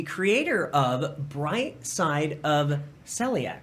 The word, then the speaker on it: celiac: rocks and the creator of bright side of celiac right great and i'm am i saying it right celiac celiac yes i had a feeling that i